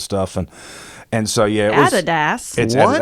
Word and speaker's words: Adidas: And and so yeah, Adidas. That's how you say it. It's Adidas. It's not Adidas.